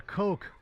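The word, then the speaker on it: Koch: Uh the the chemicals I use for my vehicle are coke. K O C H. Coke.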